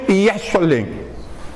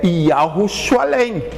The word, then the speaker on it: Yahushualém: Hoje eles já não pronunciam Yahushualém. Não, aí eles sabem disso, então eles pronunciam Yeshualém. Justamente porque o início eles não querem pronunciar, que é para ninguém saber. Mas o nome original da cidade, eles comem o início. Então hoje eles falam Yeshualém. Mas o nome correto da cidade é Yahushualém.